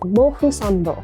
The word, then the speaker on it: Mofusand: In Japanese, it's pronounced Mofusando.